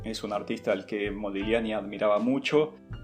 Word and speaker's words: Modigliani: a medio cone y modigliani porque la gente en italiano se pronuncia como una doble l en español modigliani así que bueno cierro